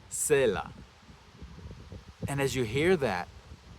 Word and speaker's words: צֵלָע: When you return to the original Hebrew, the word used is pronounced sela.